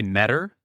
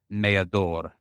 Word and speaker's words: Meador: You could say Meador, which is the American way, or if you want to get a little spicy with it, sometimes I'll introduce it as Meador.